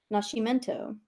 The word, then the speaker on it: Nascimento: pronounced that well descent therefore her surname is Portuguese and should be pronounced Nascimento because I think on